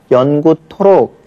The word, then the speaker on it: 연구토록: 그래서 하의 음가는 그 다음 자음에 그냥 반영이 돼서 연구토록 이렇게 발음이 되죠.